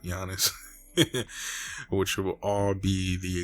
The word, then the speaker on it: Giannis: name but giannis yeah i keep saying goddess but giannis which will all be